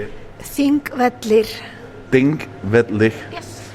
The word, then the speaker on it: Þingvellir: Þingvellir.